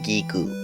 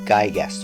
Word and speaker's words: Giygas: Maria took care of one of the aliens' offspring, Giygas or Giygas or Giyg. I'm going to stick with Giygas as that's how it's said in Japanese.